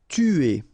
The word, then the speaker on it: tuer: Tuer. Alright, remember, U is really pronounced like U, so it's not OU, but it's U, okay?